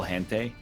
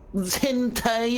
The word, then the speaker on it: hentai: You see that guy's name is Tom Clancy's Sum of All Hente?